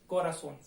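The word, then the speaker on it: corazón: अब इसका उच्चारण देखते हैं हम, उच्चारण कैसे बोलते हैं। कोरासोन, मैंने जो लिखा है उल्टीमा सिलाबा, इसके अंदर लिस्ट के ऊपर उल्टीमा सिलाबा का मतलब है ये हमेशा एंड में लगता है, नंबर 1, इधर से नंबर 1 का जो अंतिम उच्चारण होता है किसी भी अक्षर का, उस पे लगता है।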